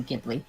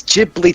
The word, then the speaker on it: Ghibli: is actually tears right it is actually give Lee by the way it's Ghibli to be done it that's not the Japanese don't pronounce tomato tomahto she's like that one of the producers to do Ghibli mr.